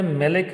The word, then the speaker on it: maleic: अब unsaturated dicarboxylic acid की बात करते हैं तो ये सिस ब्यूट 2 इनोइक एसिड है, इसको बोलते हैं मेलिक एसिड, MALEIC।